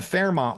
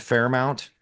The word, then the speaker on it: Fairmont: That's why I'm saying, like, even the Fairmont was nothing because he said Fairmount. Yeah, he said it wrong.